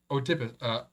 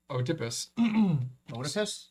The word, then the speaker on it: Oedipus: Is it Oedipus? No, it's Oedipus. Yep. Oedipus. It's like the mom. Oedipus, yeah. Oedipus solving the Sphinx's riddle underscored the values of wisdom and bravery. Oedipus. The O is silent.